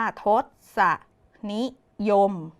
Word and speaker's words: ทศนิยม: ค่ะ เด็ก ๆ ทศนิยม ทศนิยม อ่าน ว่า ทดสะ นี้ ยม มี 1 คำ ค่ะ